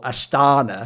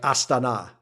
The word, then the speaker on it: Astana: actually learned myself is, we in the West go Astana, because that's like how we pronounce it. I've heard it's supposed to be like Astana, like you're supposed to make that where the emphasis is.